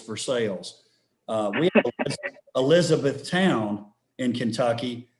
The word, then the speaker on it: Versailles: Where I'm from, it's not Versailles, it's Versailles.